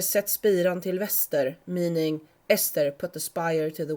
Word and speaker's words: Äster: names are created so they rhyme with a direction or similar, for example, in the legend from Ångermanland where the giant is called "Äster". The Swedish word for west is Väster, so that it rhymes with Äster.